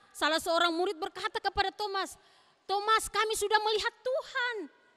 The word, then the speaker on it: Thomas: Apa bacanya? Thomas. Bukan tomat ya, Thomas.